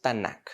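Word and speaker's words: Tanakh: mis hermanos se pronuncia tanak se les agrega las dos a para poderlos pronunciar pero cada vez que tú oigas la palabra tanak del hebreo significa torá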